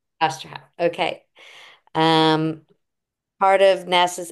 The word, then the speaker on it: Osterhout: Is that how you pronounce it? Hout? You were close. It's Osterhout. Osterhout.